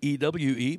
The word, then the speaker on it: ewe: book so that you not y-o-u but ewe but pronounced the same drops that lamb and